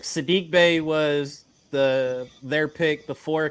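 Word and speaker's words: Saddiq Bey: um marvin bagley um sadie bay um i mean oh sadie i'm sorry i'm so cd i said his name wrong i apologize that's it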